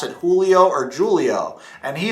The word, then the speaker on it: Julio: But my name's actually pronounced Julio.